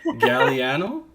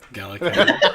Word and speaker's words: Gallicano: Galliano? There's a C in there. Sweet. Gallicano. Not that hard.